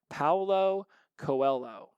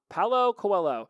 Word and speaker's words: Paulo Coelho: let's see I had to look it up Paulo Coelho let's see let's hit this button Paolo Coelho you know you can type somebody's name in